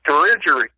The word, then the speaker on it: Dirigiri: That's what Dirigiri means? Right. It's Latin. The way you say the way everyone says it, the way we tell them, is Dirigiri. But really, it's pronounced Dirigiri.